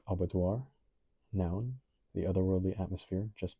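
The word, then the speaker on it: aubadeoir: Pronounced abattoir. So, I'm not exactly sure if I've experienced a feeling of abattoir.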